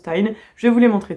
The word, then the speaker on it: TIJN: lunettes antilumière bleu de la marque Tin, donc qui s'écrit T I JN, mais qui se prononce Tin.